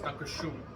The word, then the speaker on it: Dankeschön: It's Dankeschön.